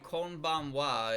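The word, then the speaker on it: こんばんは: Because when you say konbanwa, it's in konbanwa, and it's pronounced as fucking wa, even though it's written as ha.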